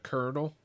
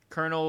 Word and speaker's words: colonel: Next thing that doesn't make sense is the word uh kernel. the way it's spelled. Colonel like Colonel mustard. Yeah, the colonel can suck my ass. That word sucks. C O L O N E L.